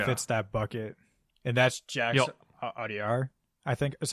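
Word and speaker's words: Jacques Audiard: So, I mean, I have another name too that kind of fits that bucket, and that's Jax Audiar. I think is how you pronounce it, for Emilia Perez.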